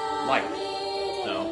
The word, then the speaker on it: Leif: Lethrair life razor lethier like Leif Ericson right okay L E I F life in German it would be life German this is this